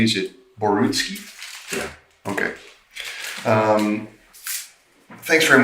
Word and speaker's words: Borutski: with the big one now basil am i pronouncing your last name correctly is it borutski yeah okay um thanks very much for taking